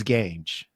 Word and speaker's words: Gange: He told me range, so it's Gange.